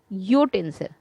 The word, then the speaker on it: utensil: We say a utensil because utensil begins with the consonant sound U.